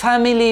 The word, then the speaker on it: family: syllable ထိပ်က I ဆိုတဲ့ alphabet လေးကိုမြုပ်လိုက်မယ်ဆိုလို့ရှိရင်တော့ family ဆိုတဲ့အတန်ထွက်အမှန်ထွက်လာပါတယ်။ family မဟုတ်ပါဘူး family ဖြစ်ပါတယ်ပေါ့နော်အဲ့တော့ဒီလိုမျိုးတတန်ထက်ပိုများတဲ့စကားလုံးတွေမှာဒုတိယမြောက် syllables ကို drop လုပ်ရတဲ့နည်းစနစ်ကိုနားလည်ပြီလို့ကျွန်တော်ယုံကြည်ပါတယ် Thank you so much